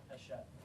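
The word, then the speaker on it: Hachette: haset um what's that is that really how you pronounce that yeah haset it's a French company I think haset um I don't think it's Hatchet I think it's AET um I could be wrong on that most of these are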